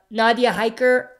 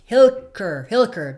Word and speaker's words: Hilker: Also speaking of Magna, do you think Nadia Hiker is doing a great job portraying Magna? Am I pronouncing that right? Nadia Hilker. There we go. Hilker, yeah. Nadia Hilker is doing an amazing job.